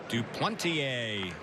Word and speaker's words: Duplantier: new pitcher is John Duplantier. You would never know it by the spelling of his last name, but that's how you pronounce the last name.